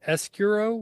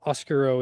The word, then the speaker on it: Escuro: been saying it right it's called the escuro with an E why is it I don't understand language I it's probably just the language that's not Spanish it's not oscuro it's e escuro uh